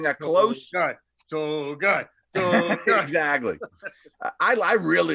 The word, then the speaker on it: Togiai: Tommy Togai, Togiai, and I hope I'm pronouncing that close. Togai.